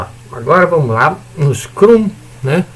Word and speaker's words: Scrum: Agora vamos lá no Scrum, né, o funcionamento do Scrum. Scrum ou Scrum? Scrum como se fala em inglês, né? A brasileira, né?